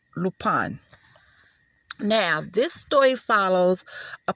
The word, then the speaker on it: Lupin: of lupon now i was calling the show lupin because you know i didn't know it i